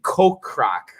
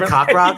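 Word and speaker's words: Kokrak: got wrong on friday's show it's actually jason ko croc uh i had i had pronounced would you say cockroach cockroach he does need to win and jordan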